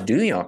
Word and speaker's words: Duhon: name's on the sticker pal yeah way to pronounce Dunya correctly good for you where'd you get that